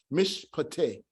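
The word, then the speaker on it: מִשְׁפָּט: So it's mish, mish. These two are joined together. Why? Because this one is not going to be pronounced, and it's telling us how to pronounce this syllable here, mish, and this one will be pronounced mishpate, mishpate, mishpate.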